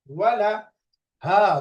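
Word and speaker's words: وله: অনুশীলন কাসরার শব্দ কম দম্মা ওয়াও ফাতহা ওয়া লাম ফাতহা লা ওয়ালা ওয়ালা হা দম্মা হু এখন মিলালে কি হয় ওয়ালাহু ওয়ালাহু ওয়ালাহু কোনো টান নাই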